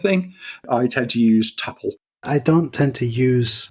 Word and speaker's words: tuple: What's your opinion on the correct pronunciation of tuple or tuple? I've always pronounced it tuple. Tuple. See, for me, that just makes me think of it only has two parts to it.